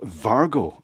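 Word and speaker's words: Wago: Vargo is the pronunciation.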